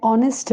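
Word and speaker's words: honest: है एन ऑनेस्ट मैन यहां पर ऑनेस्ट वर्ड की स्टार्टिंग एच से हो रही है जो कि कॉन्सोनेंट यानी व्यंजन है बट यहां एच साइलेंट है और साउंडिंग औ जैसी स्वर जैसी आ रही है वोवेल्स जैसी इसलिए हम यूज करते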